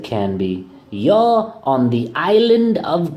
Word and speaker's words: Canby: It's not Canby, it's pronounced Canby. Get it?